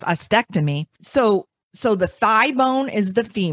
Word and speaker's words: ostectomy: I was saying osteotomy, but it's ostectomy.